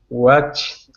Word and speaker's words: watched: Watched. No. Yeah. Difficult. Watched. Watched. Watched. End up with a T on the end.